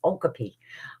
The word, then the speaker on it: okapi: It's the okapi, which the longest time I pronounced it wrong because it looks like it says okapi, because they have zebra legs, a donkey body, and a giraffe head.